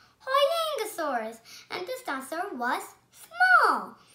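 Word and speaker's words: Huayangosaurus: I'm going to tell you how to pronounce it. Hoyangosaurus. Hoyangosaurus.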